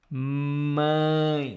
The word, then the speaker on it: mãe: For example, mãe, mãe. Nasal sound here. Mãe, If I would write in English for you to read, it would be something like this. Mãe. Like ing. Mãe, mãe.